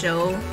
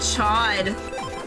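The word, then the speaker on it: Chaud: in his name is pronounced Sho, cause pain. Sho. I've always said Chod.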